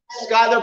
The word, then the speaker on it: Schuyler: aren't i yes and what county is that skyler county got it's spelled schuler but remember as i told you